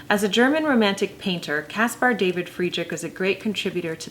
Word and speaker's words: Caspar David Friedrich: going to spend most of our time on Caspar David Friedrich and that is how you pronounce that I was pronouncing it incorrectly of